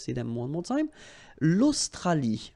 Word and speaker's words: Australie: L'Australie, final E not pronounced.